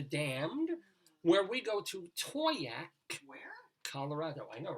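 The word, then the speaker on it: Towaoc: Our Colorado Limerick of the Damned, where we go to Toyac, Where? Colorado. I know, right? Toyac, that's how it's pronounced.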